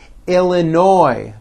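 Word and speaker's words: Illinois: Florida Georgia Hawaii Idaho Illinoi the final s is silent Indiana Iowa Kansas k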